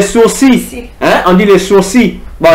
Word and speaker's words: sourcils: les sourcils, hein, on dit les sourcils. Bon, les L se prononce pas quoi. C'est par c'est parfitesse qu'on dit sourcil mais c'est les sourcils.